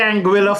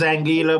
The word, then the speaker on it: Anguilla: Yeah, we say Anguilla phonetically, it is Anguilla, but I want to make sure I have it right. So Anguilla.